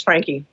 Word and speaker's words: Franke: I will say my name is Franke.